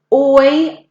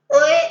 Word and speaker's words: hoy: Hoy. Yeah, so we don't pronounce that H at all.